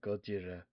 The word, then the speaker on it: Gojira: What Yeah, Gojira as it's properly pronounced.